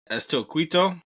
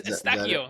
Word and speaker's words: Eustáquio: Estilquito. Oh, it's Eustáquio.